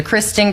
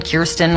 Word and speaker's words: Kirsten: I'm like, I'll answer Kristen. Kirsten, Kirsten, which is how you say my name, but I don't blame people.